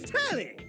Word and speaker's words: Telly: The name's Tally. rhymes with Nelly. Like, whoa, Nelly. Did you know Telly offers 5,000 channels like an endless deli?